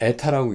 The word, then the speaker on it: eta: 그래서 X1, X2를 리니어 컨비네이션에서 이걸 에타라고 있습니다. 뭐라고요? 에타, ETHA, 에타, 에타, ETA라고 읽어도 될 거예요.